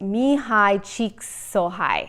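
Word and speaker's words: Csikszentmihalyi: his name it's a really hard one to pronounce but it's me hi cheeks so high he studied this for years and it's a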